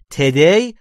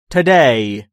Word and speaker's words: today: در مورد تلفظ او در today دقت داشته باشید که تلفظ او در اینجا چیزی بین او و ا باید باشه و today یا today تلفظ اشتباهی است. دقت داشته باشید به این صورت باید تلفظ بشه today، امروز.